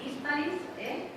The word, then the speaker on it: Hispalis: romana, se desarrolla también en Hispalis, sin acento en la I, por favor.